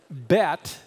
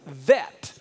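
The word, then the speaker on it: ב: ball in the middle the letter bet can also be pronounced with the V as vet but when they don't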